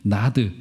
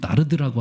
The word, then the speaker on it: 나르드: 게다가 여기서 등장하고 있는이 나드 정확한 발음으로론 나르드라고 하더라고요.이 나르드 한근이 이게 출처가 어디인지가 조금 불분명합니다.